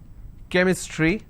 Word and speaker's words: chemistry: sound for example change but when i have the word chemistry ch becomes ker sound so i say chemistry